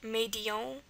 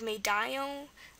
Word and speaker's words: médaillon: Medion would be pronounced like médion instead of médaillon.